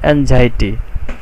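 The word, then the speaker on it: anxiety: অ্যান্ড অ্যাংজাইটি, এখানে একটা শব্দ দেখতে পাচ্ছ তোমরা, অ্যানজাইটি, এটার উচ্চারণ হচ্ছে অ্যানজাইটি।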